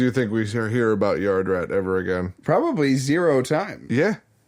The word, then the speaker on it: Yardrat: said it's pronounced yardrat it just sounds like you're saying it faster yeah you have to